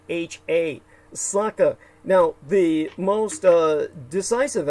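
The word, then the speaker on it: Sakha: and it's known as the Congo of Russia it's spelled s a k ha a Saka now the most uh decisive aspect of Saka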